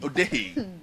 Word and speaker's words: Odehe: So it's Odehe. No, the pronunciation is Odehe.